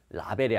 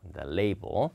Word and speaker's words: label: 예, 상표할 때 label, 라벨, 라벨이 아니라 label, label.